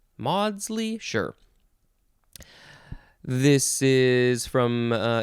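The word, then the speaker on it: Maudsley: synonyms are accord and harmony as in this quote such happy chime of fact and theory that's from henry modley m-a-u-d-s-l-e-y modsly modsly sure this is from uh it's a middle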